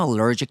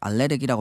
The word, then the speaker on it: allergic: I'm allergic to sulfur. 이제 발음도 어려운데 알레르기라고 발음하면 안 되고 I'm allergic to sulfur.